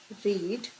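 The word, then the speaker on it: read: अब इसका second example, they have रीड books, they have रेड books भी बोल सकते हो, ठीक है, प्रोनाउंसिएशन में रेड आएगा।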